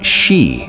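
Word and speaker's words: 四: It's pronounced shi, which is also the word for death.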